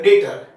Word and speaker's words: debtor: Now see, you can pronounce as a debtor also, B is silent here, debtor.